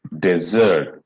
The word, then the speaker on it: desert: Desert, desert, dessert. Desert, desert. No, same sound is coming. Okay. Desert, desert, So you have to sit on day, not zert.